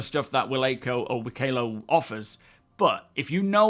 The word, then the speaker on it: Wikelo: see that Elliot clarified how you say wo because everyone's saying it differently was annoying him it rhymes with Picolo wo okay if you want